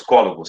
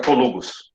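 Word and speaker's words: cólugos: Aliás, essa palavra, se ela for pronunciada assim, ela tem que ter acento, viu? Que é uma palavra proparoxítona, os cólogos, senão fica colugos, ok?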